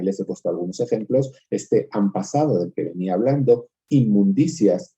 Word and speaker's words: han pasado: Por más que nosotros en han pasado escribamos una H-A-N y luego una P, sabemos que en realidad no lo pronunciamos así, decimos han pasado, pronunciamos una M.